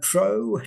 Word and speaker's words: Trow: listening yes Rob uh my name is uh tro T R W my Christian name is Welsh and unpronouncable it's myON so my friends call me